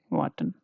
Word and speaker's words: warten: Okay, and let's take another example, warten. Yeah, warten is to wait, you're waiting on someone, right? Waiting for someone. So here this is wa, so wa 10, warten.